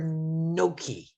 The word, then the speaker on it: gnocchi: is it yoki or noki y or m so it's a silent g so we don't we don't have to say gnocchi but you can make